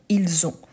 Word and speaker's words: ils ont: avez il elle ont pourquoi je marque bien qu'ici il a les son de Z entre les deux quand je fais la liaison ils ont pourquoi parce qu'ici il